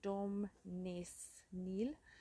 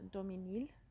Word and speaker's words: Daumesnil: and it looks like dom ness neil but it's dominil the s is silent uh so yeah we're